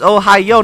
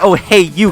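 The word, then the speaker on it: おはよう: Ohio. Good morning. That's how you say it in Japanese. Ohio, not oh hey you, Corey.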